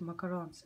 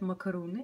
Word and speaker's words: макарон: почему люди вообще любят макаронс, они же ужасные. Кстати, многие говорят макаруны, это неправильно, правильно говорить макарон, макаронс.